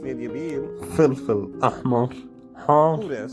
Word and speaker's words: زنجبيل: أول شيء زنجبيل، It's pronounced Nidyabil.